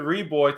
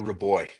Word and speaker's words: Reaboi: I should have got the pronunciation before we started, but we're here today with David Reaboi.